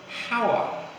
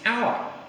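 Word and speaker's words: hour: our so that's h-o-u-r which you might think was pronounced power but it's our so which letters is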